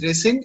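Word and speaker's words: rescind: called resend okay okay it's pronounced as resend and it means cancel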